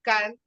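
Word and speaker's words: Karl: y polan Pol y el nombre es car como Carlos pero con k y escribió un libro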